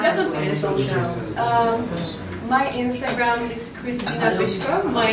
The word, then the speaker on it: Krystyna Pyszkova: your Instagram yeah definitely um my Instagram is Christina bishko my name is a little bit difficult but it's spelled k r y s t y n